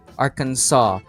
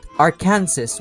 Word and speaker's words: Arkansas: you pronounce this state Arkansas? What's the point of the S if you're not even going to say it at all? That really So I'm giving Arkan Ar- I'm giving Arkansas an F.